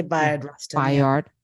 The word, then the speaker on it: Bayard: is the story of Bayard Russian or would you say Bayard yeah a lot of people say by yard all right b-a-y-a-r-d however wherever you come from whatever syllables you mean in your mouth right um Coleman Domingo